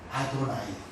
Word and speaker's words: 아도나이: 아도나이. 그러니까 표기는 답이 있어요? 표기는 이렇게 하고 발음은 아도나이라고 했던 거예요.